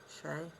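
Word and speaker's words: شاي: Anyway, I woke up this morning and lo and behold, Milky Shay has, or Milky Chai, Shay? Shay's the Arabic pronunciation of tea.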